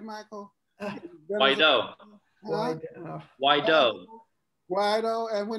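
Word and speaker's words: Guaidó: Guido. Am I pronouncing that right, Michael? Guido. Guaido.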